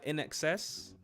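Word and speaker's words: INXS: Never Tear Us Apart by uh Inex? I only recently learned how to pronounce that, by the way. I would have said in in excess.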